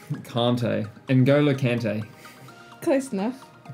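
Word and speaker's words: Kanté: Kante? Kante.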